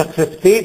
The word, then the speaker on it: accepté: Francese accepté, si pronuncia accepté perché le regole francesi sono così. La prima consonante seguita da un'altra consonante e si pronuncia C. La seconda C è seguita da una E, in italiano la renderemo con la C, invece in francese si rende con la S.